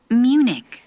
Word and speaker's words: Munich: 우리가 근데 영어는 Berlin 이렇게 발음을 합니다. Munich, 네, 자, 요게요.